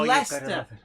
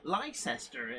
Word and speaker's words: Leicester: americans trying to pronounce scarborough or middlesbrough oh leicester leicester's the other one oh edinboro as they say jade you know where lycester is it's like no i don't know where